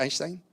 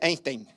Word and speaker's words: Einstein: Antes decía Einstein hasta que me casé con Lili me dijo, "No, se dice Einstein, se dice Einstein. Linstein, no, un partido de fútbol. Un día decía el el el que transmitía el partido decía ahí juega Lis Einstein. Y L decía, "Dios mío, así no se pronuncia."